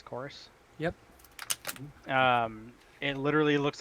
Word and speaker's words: Chorus: next game here is a game called chorus that's how you say it CH o or us course yep and literally looks